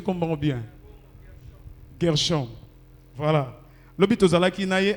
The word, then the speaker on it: Gershom: Lobi tozala ki alongona mosali na nzambe docteur Gershom na prononcer comme bien. Gershom.